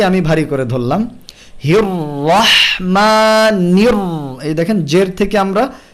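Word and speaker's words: الرحمن: সো তাসদিদের সাথে যেহেতু ফাতহা আছে, র মোটা। নির র, নির র এটা ভুল। নির করে অর্ধেক পাতলা, তারপরে র দিয়ে ভারী, এটা করা যাবে না।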